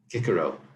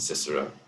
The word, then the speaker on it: Cicero: In Old Greek, they didn't have a C that was soft. Kikero. It wasn't Cicero, like we say. They had everything was hard. Kaiser, we say Caesar.